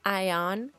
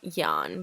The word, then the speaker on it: ion: I was saying yan because this is how you say this in Romanian, but it's ion.